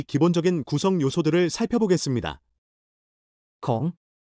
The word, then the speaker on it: ขี้: ขี้ 키처럼 발음.